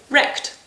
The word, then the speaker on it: recht: And because you fried their hide, they're wrecked. So N for wrecked.